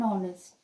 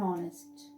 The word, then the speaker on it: honest: and before are an honest when we pronounce these two words h is silent that is why we use an before the words are an honest we use a before